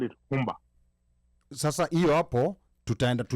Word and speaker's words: Rumba: The Spanish version is Rumba. But then, let me ask, why do Congolese call it Rumba? Sasa hiyo hapo tutaenda that's the R in French, Rumba.